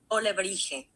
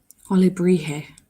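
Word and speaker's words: alebrije: The J won't be pronounced like a J. Okay. Alebrie? Maybe? Olebrije. Olebrije.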